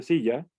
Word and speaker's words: silla: En el caso de silla, tenemos que la que con mayor fuerza pronunciamos es la primera sílaba, que es sí.